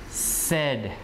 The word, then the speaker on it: said: that word is so the first word is s right S Plus e plus d so try to pronounce it D so it would be said what word do you think it is said like that right said said past tense of say right say said said